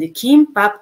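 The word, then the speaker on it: 김밥: with the G sound, and kimbap, I pronounce with K sound, because kio sound come in the beginning.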